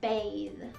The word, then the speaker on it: bathe: think and thing so when there's a th at the end of a word normally it's an unvoiced sound like a bath but when we have a silent e on the end it changes to a voiced sound like bathe of course like always